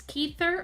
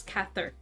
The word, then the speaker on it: Cather: song by i actually had to google if this would pronounce keither or cather apparently it's cather i could be wrong